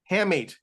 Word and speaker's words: hamate: Jared, how do you pronounce a hamate bone? Did I say it right? Hamate.